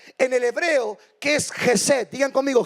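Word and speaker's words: חסד: Pero hay una segunda palabra de gracia en el hebreo que es Gesed. Digan conmigo, Gesed. Más fuerte. Esta palabra se pronuncia casi 250 veces en el Antiguo Testamento.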